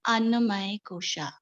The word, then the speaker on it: Annamaya Kosha: This part is basically belong to the Annamaya Kosha. Have you heard about Annamaya Kosha? Annamaya. It's M. Yes. Annamaya Kosh. K. It's just a moment. Anna. Annamaya Kosh. Kosha. It's O.